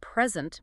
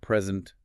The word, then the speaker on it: present: Think about the word present. Stress on the first syllable present means a gift and on the second present means to give.